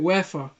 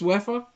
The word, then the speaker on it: UEFA: is that really how you pronounce it and that you have yo uefa i mean that's most people pronounce it i i want to correct myself so i i say moving forward it's wefa yeah yeah yeah okay